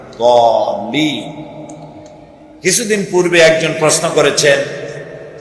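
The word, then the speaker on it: الضالين: সেই জন্য জল্লিন যদি কেউ পড়ে তাহলে নামাজ অশুদ্ধ হয়ে যাবে। এটা দল্লিন গায়রিল মাগদুবি আলাইহিম ওয়ালা দল্লিন, দালও না আর জও না, উচ্চারণ হবে এর মাঝখান দিয়ে দল্লিন।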